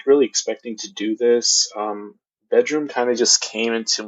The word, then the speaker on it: Bdrmm: interesting thing about spins they spelled bedroom wrong they spell it BDR mm that's sort of a trend bands are topping that's pretty much all I have to say about that but if you're ever looking up this band don't try licking it up by the traditional spelling of the word bedroom it is spelled without the E and though and I